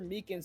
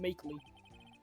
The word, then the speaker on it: Meekins: Actually, Officer Meekins at the detention center told us. That poor little doggy. Poor guy. I keep getting his name wrong, calling him Meekly.